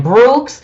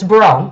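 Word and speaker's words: Breaux: sure i wasn't saying brooks because i wouldn't say a brooks b-r-e-a-u-x i would have all day long but they said the x is silent this is a french name and it's bro so i am saying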